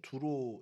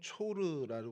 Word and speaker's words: 두로: 오늘 성경 속 장소는 두로 있니다 어 드로라 그 지명은 좀 그래도 귀에 읽으셨을 거예요 두로와 시돈이라는 표현을 항상 이렇게 세트로 성에서 많이 이야기하는데요 두로는 히브리어로는 초르 발음이 되고요 헬라어로 튀로스 발음이 돼서이 튀로스 발음이 지금 현재